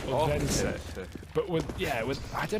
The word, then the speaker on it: Odense: NATO Sapphics, who lives in Odense, was telling me that you've got to pronounce the D as a TH, kind of like a the sound. Odense.